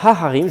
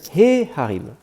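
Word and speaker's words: ההרים: montagnes, harim, donc, je ne vais pas dire ha-harim, je vais dire he-harim. Parce que là, le har ici, c'est le har qui a l'accent, hein, ha-har, la montagne. Par défaut, c'est la dernière syllabe qui est accentuée, ha-har, alors que là, he-harim, c'est la dernière syllabe qui est accentuée. Et du coup, mon ha ici n'est plus accentué.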